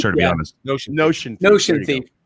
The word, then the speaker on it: Notion Thief: Noxious Thief, am I saying it correctly? Yeah, the Notion. I'm not Thief, sure, to be yeah. honest. Notion Thief.